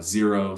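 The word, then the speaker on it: Xero: hurdler spelled hdlr uh zero spelled with an X pretty affordable digital accounting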